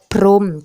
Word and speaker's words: พรหม: คำ ว่า พรม หน้า ซึ่ง คำ ว่า พรม เนี่ย จะ มี หัว ปรากฏ อยู่ ใน คำ ด้วย แต่ ว่า เวลา อ่าน จะ อ่าน ว่า โพล รอุ มม พรม จะ ไม่ อ่าน ออก เสียง หอ หยิบ นะ คะ อ่า นำ